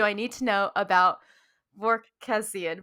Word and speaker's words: Vorkosigan: what exactly do i need to know about work cassian berkosian yes excellent excellent pronunciation you never know which letters you need